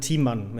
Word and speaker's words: Thiemann: It's pronounced Thiemann. It's just a cup of tea and then man.